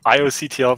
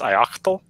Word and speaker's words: ioctl: cuddle or you know ioctl versus i octal and I always found